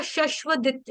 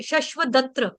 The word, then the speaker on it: शश्वदत्र: उसके बाद था शश्वत शश्वदत्र आपने शशव बोला कुछ अलग से था आपका शशव बोल दिया था आपने शश्व शश्वदत्र ही खुला हुआ है। खुला हुआ है। मैंने खोल दिया पहले ही खुला हुआ है। शश्वदत्र ही ठीक है।